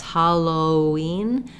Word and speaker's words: Halloween: Question about whether or not there's a W sound in Halloween. Yes, Halloween weekend, this weekend. And yes, Halloween. We do have a W sound. We don't need a break between the O and the ween.